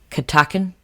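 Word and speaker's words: Catoctin: I know you wanted me to say it because I always mess it up when I'm pronouncing it. Katakin?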